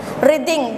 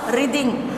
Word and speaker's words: writhing: Writhing, W is silent here. Writhing, twisting the body from side to side.